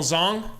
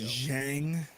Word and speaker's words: Zhang: Come on, Zong. Come on, Zong. Nice little hand up. Give it back to Zong. I think it's pronounced Zhang. That dude's pronouncing it wrong, I'm pretty sure.